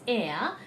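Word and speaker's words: heir: somebody listens to it air h-e-i-r is air and then a-i-r is also air now how they are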